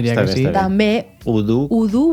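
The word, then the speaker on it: ho du: O du hauria de ser udu, d'acord? Que és diferent que duro, per exemple. I si jo diguera eudu, estaria bé?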